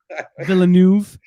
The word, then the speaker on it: Villeneuve: mind and try to enjoy it from director Villanueva, or what? How do you pronounce it again, Kyle? I don't remember. It's French. I don't know. Villeneuve.